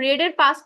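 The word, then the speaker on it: read: যেমন ওয়ারের past tense হচ্ছে ওর past participle ও তারপর রেডের রিডের পাস্ট টেন্স। আপনারা উচ্চারণ করেন রিড। রিডের পাস্ট টেন্সের উচ্চারণটা হচ্ছে রেড।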